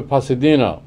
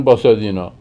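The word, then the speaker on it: Pasadena: یک شهری هست در آمریکا به نام باسادنا، یک شهری هست در آمریکا به نام پاسادینا. اینها هر دوشو میگن باسادینا.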